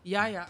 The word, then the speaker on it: Yahya: I'm not sure how to pronounce his first name, so that's why I left it out. Yeah. Yahya.